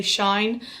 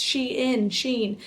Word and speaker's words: Shein: So I absolutely love Shein, and I used to always pronounce their company wrong. I used to always say Shine, and then everyone corrected me and was like, Emma, it's Shein.